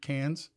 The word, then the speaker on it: Cannes: Is it Cannes or Con? It's Cannes.